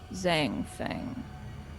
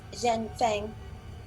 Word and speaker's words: Zhen Fang: and as he does are you zang thing actually the correct pronunciation is zhen fang please just gonna shout